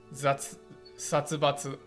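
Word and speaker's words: 殺伐: Satsubatsu.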